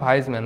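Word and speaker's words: Weismann: মতামত কে দিবে এখানে ওয়াগাস্ট এখানে ওয়াইজম্যান বা ভাইসম্যান বুঝছো এখানে আসলে দুই রকমই উচ্চারণ হয় কোথায় আছে আচ্ছা এইটাই ওয়াইসম্যান বা ভাইসম্যান যেকন দিয়ে মনে রাখবা।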